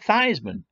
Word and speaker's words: Theismann: Notre Dame but that wasn't his given name it wasn't Theismann it was teased Minh the8 well no the spelt correctly but that's pronounced t's Minh and not Theismann and so I believe it was from the 1970 season the clever people in the Notre Dame athletic department said you know Joe if we change your last names pronouncing a Shinto Theismann it happens to rhyme with Heisman and maybe that's a